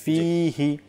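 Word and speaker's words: فيه: মাদ্দা এখানে হয়ে থাকে ফিহি ফিহি আমরা যদি দ্রুত পাঠ করে নেই আল্লাহুম্মা বারিক লানা ফিহি ওয়াজিদনা তাহলে ফিহি ফিহি নয় এখানে দ্রুত পড়া যাবে না ফিহি একটু টান দিয়ে তারপর পাঠ করতে হবে তারপর ওয়াজিদনা জিদনা জিদনা রয়েছে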